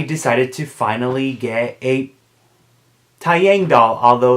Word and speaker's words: Taeyang: oh my gosh my very first pull up /tao yang doll whatever you prefer to call it this